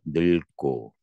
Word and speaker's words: 늙고: 자, 기본형 뭘로 끝나? 늙다, 다로 끝나는 말 속에 리을 기억이야. 자, 리을 기억이야. 밑으로 내려와. 다로 끝나는 말에. 그러면 뒤에 뭐 왔어? 기억이 왔네. 그럼 예외적으로 앞에 거 발음해. 그래서 어떻게 발음된다? 늙고.